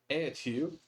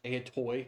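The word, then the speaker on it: ἀετοί: learned Greek somewhere else, you might think that I'm mispronouncing it. I'm not. I just use a different pronunciation system. It's a whole thing that I don't want to get into today, but I do know how to read Greek. So vultures, etu, or eetoi, if you learned it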